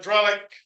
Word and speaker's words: Drellich: So Evan Drellich, I listened to a podcast, by the way, that they did on this. He and Roosevelt did, and he pronounced it with a hard C at the end.